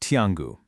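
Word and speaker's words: 天狗: Those characters for Tangu, well, in Chinese, they're pronounced Tiangu, and they mean quite literally heavenly dog.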